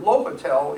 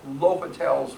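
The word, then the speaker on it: L'Hôpital: Those of you who have been in calculus might recall L'Hopital's rule. It's the same person. It's spelled like L apostrophe hospital, except without the S.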